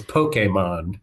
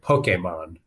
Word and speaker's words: Pokémon: and it still gets to me when people pronounce it because it's Pokemon is is the way it's supposed to be